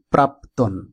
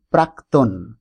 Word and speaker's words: প্রাক্তন: এই শব্দটিকে আমরা অনেকেই প্রাক্তন এটি উচ্চারণ করি, আবার অনেকেই প্রাপ্তন এরকম উচ্চারণ করি। মূলত শব্দের অর্থটি না জানার কারণে আমরা নিচের উচ্চারণটি করি। প্রাক্তন শব্দটির অর্থ হল পূর্বকালীন। প্রাক্তন শব্দটির অর্থ হল পূর্বকালীন, অর্থাৎ এখানে শুদ্ধ উচ্চারণ প্রাক্তন। আমরা ভুলবশত প্রাক্তন উচ্চারণটি আর করব না।